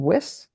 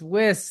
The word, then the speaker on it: Wiss: gonna get this wrong whis you got it thank you I got nervous for a minute so many people get my last name wrong it's whis thank you thank you